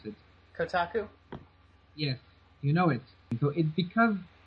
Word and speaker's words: Kotaku: it had gone it had gotten featured in Kaku you know the website Kaku Kaku I don't know how you pronounce it Kotaku yes you know it so it's because it got featured in Kotaku Kotaku whatever you um it suddenly uh gathered a